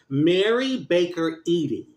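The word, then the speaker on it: Mary Baker Eddy: Mary Baker Edy.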